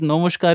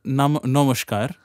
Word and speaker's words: Namaskar: It's fine if you call it Namaskar in Bangla. But don't bring it to a Sanskrit verse and say Namaskar in Sanskrit language when you're using this.